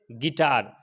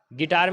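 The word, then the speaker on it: guitar: जाएगा इसी तरीके से गिटार गिटार में क्या है यू के बाद आई वावेल्स में से है तो यहां पर यू साइलेंट हो जाएगा इसी तरीके से बिस्कुट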